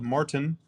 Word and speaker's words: Martin: He said Caleb Martin, not Martin. Kind of a Tim Cato way of saying it. Tim always pronounces his T's.